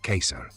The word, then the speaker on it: Kaiser: de Austria-Hungría fueron llamados Kaiser, ortografía alemana y pronunciación correcta en latín, Kaiser.